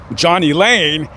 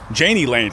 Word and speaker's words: Jani Lane: Way of how how you say it or pronounce it or something so he went by Johnny Lane but when people would see his name and how it's spelled they called him Janie Janie Lane so it's stuck so there you go there's